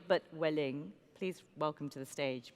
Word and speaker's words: Welling: We decided it wasn't going to be Marx, it was going to be Max, but with the emphasis on the Welling, but Welling.